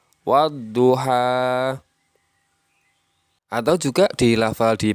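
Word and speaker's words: والضحى: dibaca dengan Wal duha Ya dibaca walduha salah yang benar dibaca wadduha atau juga di lafal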